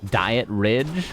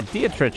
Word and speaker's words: Dietrich: third good diet Ridge I don't think that's how you pronounce that I thought my pronunciation was pretty good at that beatritch you get rich yeah Dietrich is is correct right is German yeah it's reads German Sonic gets to 2-0